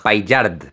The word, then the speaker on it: Paillard: Le pido a mi primo que lo pronuncie para no arriesgarme. Jean-François Paillard. Paillard.